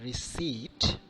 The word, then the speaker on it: receipt: Letter P can sometimes be silent letter, like receipt, not receipt, psychology, okay, psyche, etc.